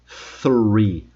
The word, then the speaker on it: three: Vou fazer mais uma vez com a língua entre os dentes, hein? Three. Three. Three. Diferente de free, que é livre, e diferente de tree, que é árvore.